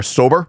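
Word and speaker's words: SOBR: The bar's name is spelled S-O-B-R, sober, which the manager was not, if going by local police and prosecutors.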